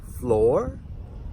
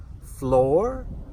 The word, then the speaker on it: floor: Two common words that have the double O and are followed by an "R" sound almost like "O", "O" and that is "floor" and "door" "floor" "Door" Nowthere are a couple